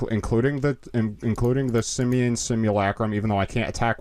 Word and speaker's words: Simulacrum: so it's not overwhelmed then the Simeon srum simulacrum simulacrum thank you the Simeon simulacrum kind of